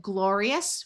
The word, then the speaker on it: glorious: Here we have glorious, where we have the E suffix, and OR says or.